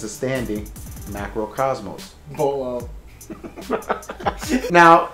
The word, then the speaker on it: Macro Cosmos: Radiance is good because it is a standing Marco Cosmos. Cosmos? Did I say it wrong? You said Marco Cosmos. What the hell's Marco? Polo. Banisher of Radiance is good because it's a standing Macro Cosmos.